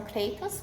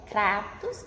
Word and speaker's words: Kratos: Lá eles falam Kratos, porque é em inglês, né? E eles pronunciam o A como E, né? Mas em grego é Kratos com A, porque eles usam um alfa, que tem a mesma som de A para nós.